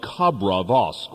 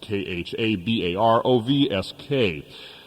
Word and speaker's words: Khabarovsk: He is the director of the Far Eastern Agricultural Research Institute of Khabrovsk, which is Khabarovsk.